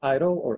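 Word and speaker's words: EIDL: the first one so the EE IDL we pronounce it idle you know and I'm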